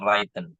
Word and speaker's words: written: is not writtenen baisara Oke wren gitu aja cara pengucapannya wren righten Oh w-nya gak ada w-nya Hilangkan w-nya itu heeh R wren by